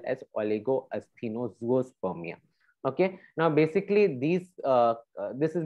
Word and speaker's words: oligoasthenozoospermia: We would love to hear you pronounce it, Pearl. Okay. Okay, this is oligoasthenozoospermia.